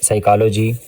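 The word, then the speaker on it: psychology: मिसाल के तौर पर हमारे पास लफ्ज है साइकोलॉजी। इसमें पी साइलेंट होता है।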